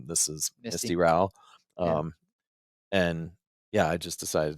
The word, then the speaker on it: Rowell: Reed, today we have Misty Rowell. Did I get that? Rhymes with growl.